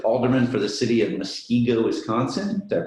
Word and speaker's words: Muskego: was twice elected alderman for the city of muskego wisconsin that pronounced that correctly yes all right and uh